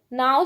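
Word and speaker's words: know: नो, नो में बच्चों के जो है साइलेंट है तो के पर करेंगे।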